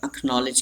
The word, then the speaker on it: acknowledge: A के बाद C और K आएगा और D को हाईलाइट इसलिए किया क्योंकि D इस वर्ड में साइलेंट है, तो आप लिखना मत भूलें इसको।